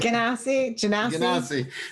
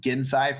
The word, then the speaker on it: Genasi: Genasi. Just think Genesis. Genasi. I know. I need to. But I think because I've said Gensai for so long that like, in my head it stays there.